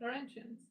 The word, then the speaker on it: Laurentian: Laurentians. It's like Lauren.